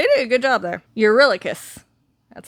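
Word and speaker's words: Eurylochus: Urillicus, that's how you pronounce that.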